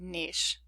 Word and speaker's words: niche: And anyway, with respect to this particular word, some say niche and some say niche, and both are acceptable.